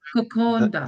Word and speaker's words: kokoda: Before the D, you sound the N. So Yes. it's called No, no. condon, Koko. kokonda, The yes, the D in the Fijian alphabet, when you pronounce it, you have to pronounce it as if there's an N in front of N it. So before. it's nd. Yeah.